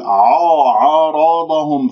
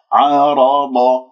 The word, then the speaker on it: عارض: غلط أن أقول عارضهم، فخمت العين، العين مرقق مستفل، حرف مستفل، فيجب أن نخلص الحروف المفخم من المرقق. عارا عارارا قرع الراء بدون أن أكور، عارو عارو خطأ، ض عارا ضو ضو هذه أيضا خطأ، لا تكوير للشفاه، انتبهوا الصح عارض عارض هو هم وليس هم، تفخمها بسبب مجاورتها لحرف الضاد المفخم.